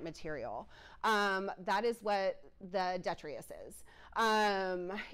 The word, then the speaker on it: detritus: just throw out and I've heard this pronounced multiple ways um I pronounce it detrius I've heard it pronounced detritus however you pronounce it that is essentially